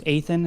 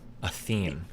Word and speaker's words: Athene: I think his name's Athan. How do you say Athan? You know, the guy that made the video Athan's Theory of Everything. Oh, Athene.